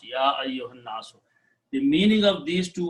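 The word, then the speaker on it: يا أيها الناس: So ya ayyuha and annaso, when you read together, you pronounce ya ayyuhan naso.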